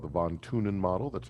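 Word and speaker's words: von Thünen: because this is talking about it's called the von tunin model that's how you pronounce that guy's name uh and this is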